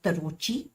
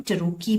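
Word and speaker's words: Tarocchi: This is not pronounced as तरोची, इसको हम टरोकी बोलते हैं.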